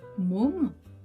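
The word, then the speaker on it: 몸: Donc, nous avons par exemple le mot môme, qui veut dire le corps, môme. Une syllabe. Dans môme, on a la consonne M, voyelle O, consonne M.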